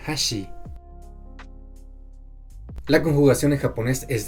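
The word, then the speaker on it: 箸: Por ejemplo, puente en japonés se pronuncia hashi, pero palillo chino se pronuncia hashi.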